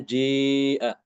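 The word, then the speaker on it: جاء: Maka di sini Imam Ibnu Dakwan dia mengimalahkan alif pada kata jimnya itu. Jadi dibacanya ji'a.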